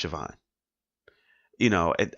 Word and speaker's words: Siobhan: do you say oh you know it's actually pronounced even you know or even take Siobhan for example you say oh it's it co bond co bond you know remember it's about si